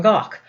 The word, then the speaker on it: Van Gogh: District of Germany Van Gogh was not from gawk although this is the correct pronunciation of his name more or less in